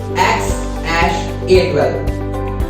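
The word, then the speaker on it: X Æ A-12: Musk himself revealed that X is just a letter. This symbol is pronounced as ash, and A12 is his contribution, which stands for Archangel 12 and aircraft. So the final pronunciation becomes X ash A12.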